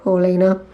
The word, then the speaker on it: Paulina: that means something to Paulina so that's the polina palette Sony Paulina because I know that's the correct way to pronounce it because she's a swedish youtuber okay guys so that